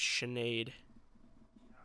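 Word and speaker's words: Sinéad: wait wait I'm wrong I think it is Sinead yeah Sinead I'm looking at the Wikipedia pronunciation and it's Sinead yeah with Nate all capitalized Irishmen every say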